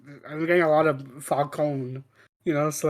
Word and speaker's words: Falcone: And as for Falcone, they actually say his name right in this one. They say Falcone, not like in Batman Begins, where they kept calling him Falcone.